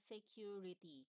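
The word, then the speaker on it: Sécurité: So another one for the safety messages is what we call the security. So it pronounced as security.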